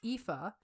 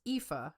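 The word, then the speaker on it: Aoife: Um, but I actually reached out to her name is Epha. It's spelled A O I F E, but it's Epha.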